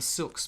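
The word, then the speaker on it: Syilx: But the Okanagan peoples, the Silks peoples is I believe the correct pronunciation of that.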